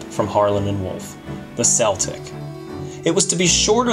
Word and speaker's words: Celtic: would have been pronounced the british way with a hard c as in celtic or the american way with a soft c as in celtic i would have been